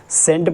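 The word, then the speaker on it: scent: तो क्या बताया कि जब हमारा एस के बाद में सी आता है तो सी हमेशा हमारा क्या होता है, साइलेंट हो जाता है, और साइलेंट की आवाज़ नहीं होती, इसलिए हम इसको सेंट पढ़ते हैं, इसको साइंस पढ़ते हैं, और भी हमारे वर्ड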